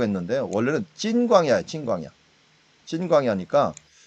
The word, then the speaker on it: 신광야: 여기서 말을 우리가 신광야라고 했는데 원래는 찐광야예요. 찐광야니까 우리나라 발음이 즈 발음 이런 발음들을 갖다가 다 스 발음으로 번역을 해버리는 바람에 좀 골치 아파요.